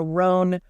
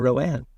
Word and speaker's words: Roan: Sure, Roan. Roan, right? I know. But then it would have to have another N and an E.